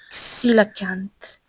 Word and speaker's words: coelacanth: Okay, we'll Google the pronunciation It, last time. it's it's coelacanth.